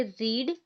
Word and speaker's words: read: ये भी READ है और ये भी READ है, बट यहाँ पे हम इसे पढ़ेंगे रीड, यहाँ पे हम इसे पढ़ेंगे रेड।